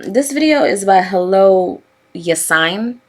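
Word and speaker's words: Yassine: video is about hello yes sign i think that's how you say his name y-a-s-s-i-n-e uh i've watched some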